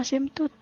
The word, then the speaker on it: asimtot: ditanyakannya Tentukan semua asimtot asimtot tulisannya asimtut apa asin touch dibacanya asimtut tulisannya asimtot ya Bahasa Inggris nabati kan